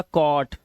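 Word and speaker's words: caught: जी एच टी है इसमें जी एच को हमेशा हम क्या रखते हैं? साइलेंट रखते हैं। तो हम क्या पढ़ते हैं? सिर्फ टी को पढ़ते हैं। तो ये हो गया कॉट ये कॉज नॉट नॉट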